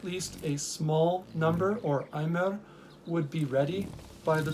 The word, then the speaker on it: Omer: That is, the amount or measurement of an Aimer, or Omer, as it's commonly pronounced by Masoretic pronunciation. Ayin Mem Rash Aimer is how I pronounce it.